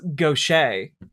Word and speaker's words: gauche: for pronunciation seems a bit gauche. Oh, text-to-speech read that wrong. Obviously, it's gauche.